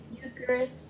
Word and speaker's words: Eucharist: That EU sounds like long U. So Eucharist.